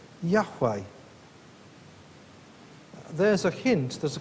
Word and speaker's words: Yahweh: You may be familiar with the version of that name, Jehovah, but probably the original way of pronouncing it is as Yahweh.